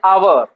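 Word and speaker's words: hour: Example में जैसे देखिए, ये लिखा है आवर, और इसका उच्चारण हिंदी में अगर हम बोले तो बोलते हैं आवर, जबकि ये एच क्या है?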